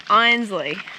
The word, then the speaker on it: Einsleigh: Is that how you pronounce it? Yes, Einsleigh. So we just got to Einsleigh.